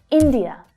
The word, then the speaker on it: India: India, India. The stress there is on the first syllable.